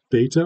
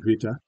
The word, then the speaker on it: beta: It's sometimes pronounced vita, which gets you right to the voiced fricative side of it.